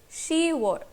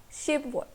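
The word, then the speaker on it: 시월: Remember one thing, that June is you were and not yuk were, and October is she were not ship were.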